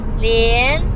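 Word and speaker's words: 脸: คะ เหรียญ นะ คะ ไม่ ใช่ เรียน นะ ลิ้น เรียน เหรียญ ลิง นะ คะ เสียง ที่ 3 นะ ลูก เหรียญ แปล ว่า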